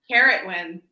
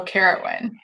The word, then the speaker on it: Ceridwen: It's Ceridwen. Carrotwen. Oh, Carrotwen.